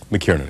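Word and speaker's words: Mackiernan: Do you pronounce it Douglas McKiernan? McKiernan, exactly right.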